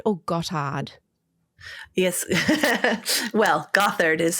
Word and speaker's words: Gothard: is it Gothard or goth hard yes well Gothard is how we say it but it's spelled Gothard which is just so funny to